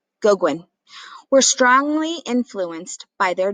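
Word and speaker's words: Gauguin: kahlo georgia o'keeffe and paul goguan i think that's how you pronounce it or goguen goguin were strongly influenced by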